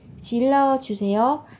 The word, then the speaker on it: 질러주세요: 질러주세요. Hãy hét lên. Các bạn chú ý về cách phát âm nhé. Phát âm thành âm L.